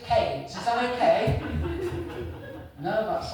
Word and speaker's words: Keynes: I know it's spelled Ke K E Y S. But here in the village, we all prefer to pronounce it Kades.